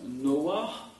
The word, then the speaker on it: Noah: Il est dit que Noé s'appelle Noé, alors en hébreu ça se prononce Noah, et ça vient de la racine Nar, parce que, dit-on, Dieu s'est reposé en lui.